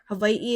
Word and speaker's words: Hawaiʻi: Hawaiʻi is sometimes pronounced with the V.